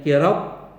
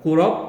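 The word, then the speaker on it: قراب: Coba lihat kitabnya anak-anak, dibacanya dengan kasr qaf, dibacanya kirob, jangan kurob.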